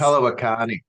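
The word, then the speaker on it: palawa kani: Palawakani is Palawakani.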